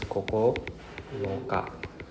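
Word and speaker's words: 九日: Then 9 is Kokonoka. Right? This is pronounced as Kokonoka.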